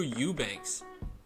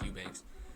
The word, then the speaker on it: Eubanks: Even Drew Eubanks, I think that's how you say it. Some people say Ebanks. I think it's Eubanks.